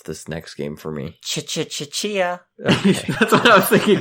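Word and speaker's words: Tchia: Chia. That's what I was thinking too when I saw it. Is it Chia? Is that how it's pronounced? I think so, yes. I believe the T is mostly silent.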